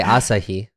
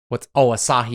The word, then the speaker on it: Asahi: We're speaking English, so you don't say Asahi. Asahi? Asahi, man. Asahi. Yeah, it's right. People do pronounce it Asahi.